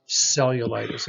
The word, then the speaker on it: cellulitis: If the word begins with a C followed by an E, an I, or a Y, similar to those vowels we talked about, it has also a soft C or the S sound.